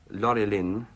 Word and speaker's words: Laurelin: You speak of the two trees of Valinor, Laurelin and the Telperion, if my pronunciation is anything like Laurelin, that. Laurelin and Telperion, yes, the golden song and the white silver.